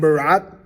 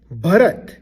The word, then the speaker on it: Bharat: This is not Bharat. I understand you want to attend the Indian wedding and you're dying to do that, but that's not what we are talking about. This is someone's name and it's Bharat.